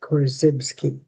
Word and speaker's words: Korzybski: Well, first of all, his last name is pronounced Korzybski, Alfred Korzybski.